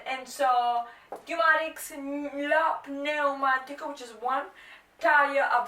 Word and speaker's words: pneumatico: Lo pneu, pronounce the P, pneumatico.